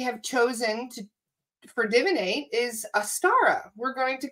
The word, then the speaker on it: Astara: So the new name that we have chosen for Divinate is Astara. We're going to call it the Astara Collective. We're going to call it the A-S-T. So basically A-Star-A.